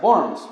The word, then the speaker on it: Worms: Lutero fue convocado a la ciudad de Worms, se escribe Worms, pero en alemán se pronuncia Worms.